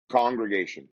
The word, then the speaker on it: Kongregation: Congregation, like Congregation. any Um, congregation, but mine's with a K because I'm Kong.